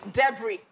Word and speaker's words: debris: You see, debris. Yeah. It has S, but you cannot pronounce the S silent.